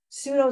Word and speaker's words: pseudo: you kind of learn like pseudo Cyprus which is pseu you're not going to pronounce the P um but then I've